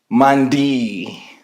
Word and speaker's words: Maandy: Anyway, Maandy. Hi. Superstar. Remember ni superstar. Hi. That's the correct pronunciation.